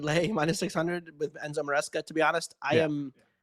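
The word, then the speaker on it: Maresca: Am I pronouncing? Enzo Moresca.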